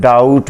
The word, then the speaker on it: doubt: जैसा कि आप देखते हैं लफ्ज़ डाउट में DOUBT में, तो इसमें B साइलेंट है और हम सिर्फ T को बोलते हैं।